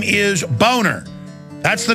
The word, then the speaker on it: Boehner: yeah well know he the name is German it's a nice name it's pronounced boner and he his whole life he even had ad campaign say it's Boehner not boner hey if your if